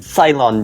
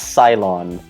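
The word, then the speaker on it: Ceylon: glatter oh some fine I don't even know how to pronounce that syon Daddy it's sylon get it right oh my God my son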